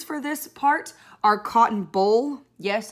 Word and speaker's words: boll: this part are cotton boll yes that's pronounced just like the football game the cotton boll spelled differently terraces textile